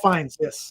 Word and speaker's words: Fiennes: Ralph Fiennes or something. Is that how you say his name? Ralph Fiennes.